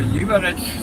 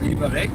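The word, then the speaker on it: Liberec: Da weiß ich, dass man z.B. Lieberetsch sagt na nicht liebereck und bei Rumburg ist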